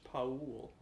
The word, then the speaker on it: Paul: Paul's name is actually pronounced Paul. I pronounce it Pool, but that's incorrect.